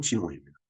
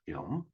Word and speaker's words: 지놈: 이 프로젝트는 2003년까지 인간 지놈에 있는 이 지놈, 이게 원래는 이제 영어로 발음하면 지놈입니다. 근데 독일어로 하면 게놈이죠. 게놈.